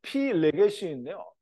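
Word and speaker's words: פילגש: 이런 뜻을 가지고 있는데요 본래 발음은 피 레게시인데요 문장 속에서는 이제 피일레게시에다가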